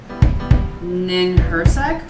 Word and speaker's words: Ninhursag: Hold on, I'm pretty sure I know how to spell it. Ninhurgas. Her S-A-G. Ninhursag.